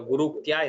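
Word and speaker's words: गुरूक्त्या: Because when I look at some other text, they split it up. They say Guru and then Itya. So that makes it no confusion there. Guru Uktya. Yeah. So Guru Uktya. That's a one word. You have to say it like that because it is Samastapada.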